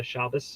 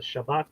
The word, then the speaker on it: Shabbat: It's what you say when the Shabas is over. The Shabbat, the Shabbath, different ways to pronounce that.